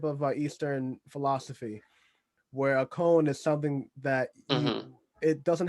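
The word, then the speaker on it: koan: like a to me that's a cone sound right now you know a cone you know what a cone is k-o-a-n i actually might be saying it wrong it's like uh yeah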